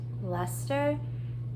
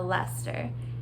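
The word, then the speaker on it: Leicester: okay it's a bluefaced luster which is how I've heard this uh sheet brand or this uh type of sheet pronounced uh Lester and that's of course not how it's spelled um I'm not going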